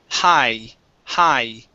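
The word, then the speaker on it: high: this word here uh the gh does not make a sound okay so instead of saying it's hi hi very good all right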